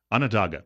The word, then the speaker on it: Onondaga: Onondaga.